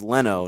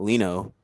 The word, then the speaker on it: Leno: fortune all right wait did you just say leno know what that's what cowaway said no i was listening to the way you pronounced it it's leno not lino oh that's fine but yeah uh celebrity weather